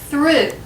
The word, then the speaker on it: through: these two words again these two are easy to get mixed up this word is that's right through and this word is thorough say them with me